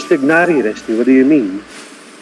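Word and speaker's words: Tighnari: Mas supposed to be Tignari. It's Tainari. That's how the English voice actors pronounce it, at least. It's Tignari, Rusty.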